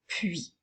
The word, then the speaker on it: puis: nous avons le mot puis n'oublie pas que le s est honnête muette alors nous utilisons le